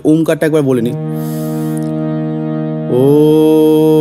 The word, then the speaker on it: ওম: আমরা দেখব ওম এবং ওম বলার সময় খেয়াল রাখবেন ম যখন উচ্চারণ করবো ঠোঁট দুটো যেন বন্ধ থাকে এবং দাঁত যেন না লাগে ওম ঠিক আছে তো যেহেতু